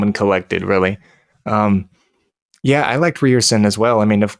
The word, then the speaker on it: Ryerson: I think we got the correction that it's not Ryerson, it's Ryerson, unless you just want to be American about it.